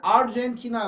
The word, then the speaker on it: Argentina: 우리는 아르헨티나 그러잖아요. 그러면 안 되고 아르헨티나, 아르헨티나. 왜냐하면 아르헨티나 그러면 R 발음이 거의 안 들리죠. 그럴 때문에 자음 앞에 R이 있을 때는 떨어져야 된다는 거예요.